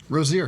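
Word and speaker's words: Rozier: And uh am I pronouncing his name wrong? Rosier. Rosier.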